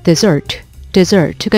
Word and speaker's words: dessert: 그리고 디저트를 의미하는 desert가 있는데요. 이 desert하고 사막을 나타내는 desert하고 헷갈리는 분들이 있는데 이 desert 같은 경우에는 강세가 뒤로 갑니다.